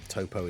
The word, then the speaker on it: Toppo: versions of the game toppo is still t oble p o so I don't know why you would pronounce that top very weird UI Goen